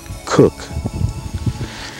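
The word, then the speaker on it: Cocke: Philip St George kooch although this day and age the name is pronounced cook his family came from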